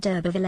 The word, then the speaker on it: d'Urberville: "I know no name of Durbfield, but there is the name of d'Urberville at the Herons," said the second. "That's it!" cried Clare, pleased to think that she had reverted to the real pronunciation.